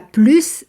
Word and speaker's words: plus: que toi elle a plus d'argent que toi ici on prononce le S du mot plus comparatif d'égalité et la